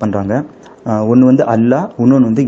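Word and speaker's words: الله: Pronounce பண்ணுறாங்க, ஒன்று வந்து அல்லாஹ், இன்னொன்று வந்து இல்லா. அல்லான்றது வந்து எப்போ ப்ரொனவுன்ஸ் பண்ணுவாங்கன்னா, டெஃபினட் ஆர்டிகல்ஸோடு சேர்த்து ப்ரொனவுன்ஸ் பண்ணுறதா இருந்தால் அல்லான்னு ப்ரொனவுன்ஸ் பண்ணுவாங்க, டெஃபினட் ஆர்டிகல்ஸ் இல்லாமல் ப்ரொனவுன்ஸ் பண்ணுறதா இருந்தால் இல்லான்றது ப்ரொனவுன்ஸ் பண்ணுவாங்க.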